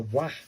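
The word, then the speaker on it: わ: W-A, pronounced like the W-A in wagon, so it's a wah sound, isn't it?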